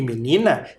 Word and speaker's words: menina: o a sabe a lá em menina é menina já não é mais a última sílaba é a penúltima é o ni menina então Sabá é oxítona a última sílaba tônica e menina é paroxítona a penúltima sílaba tônica menina não tem acento